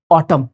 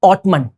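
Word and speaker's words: autumn: क्या है guys ऑटम the correct pronunciation of this word is ऑटम नॉट ऑटम please हमेशा ध्यान रखना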